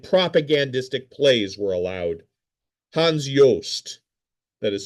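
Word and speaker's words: Johst: Hans Yoast, that is spelled jo failed Nazi playwright said that whenever he heard the word culture, he reached for his revolver.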